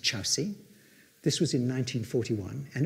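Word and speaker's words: Kyaukse: His carriage was detached at a place called Chowsi. It's spelt Korksi, it's pronounced Chowsi.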